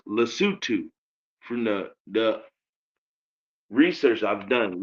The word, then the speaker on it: Lesotho: From what I heard, it's pronounced Lesotho.